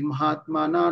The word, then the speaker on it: মহাত্মানঃ: ঠিক আছে, সেজন্য মহাত্মানঃ বাক্যের শেষে শব্দের শেষ বিসর্গ থাকলে পূর্ণ হ উচ্চারণ হবে। উদাহরণ গতাহা। ঠিক আছে, তাহলে নাপ্নুবন্তি মহাত্মানঃ, নাপ্নুবন্তি মহাত্মানঃ মনা সংসিদ্ধিং পরমাং গতঃ, সংসিদ্ধিং পরমাং গতঃ।